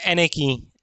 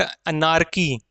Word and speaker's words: anarchy: Next word is एनेकी। एनेकी, इसका pronunciation में ध्यान देंगे। इट इज नॉट अनार्की। अनार्की नहीं बोलते इसको, ना अनार्ची बोलते इसको। इसको कहा जाता है एनेकी।